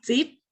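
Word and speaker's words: Dzib: Es Tsip, el DZI es como Tsip, y Ujú, en maya significa escribir.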